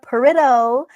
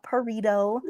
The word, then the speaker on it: Parido: Trisha Parido is her name, not Parto. Or am I wrong? Am I still wrong? Okay, maybe I'm not. We'll get it by the end. It's Parido like the stone.